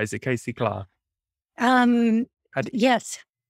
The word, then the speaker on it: Claar: Is it Casey Claar? Yes. Claire is how my father pronounced it, but Claar is the more correct pronunciation. Because I remember from my time in the Netherlands, it was always Claar.